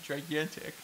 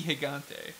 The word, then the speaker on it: Gigante: Top 10 List says that he remembers Mucha Lucha Gigante on Cartoon Network, and they accidentally pronounced it gigantic. It's supposed to be Gigante.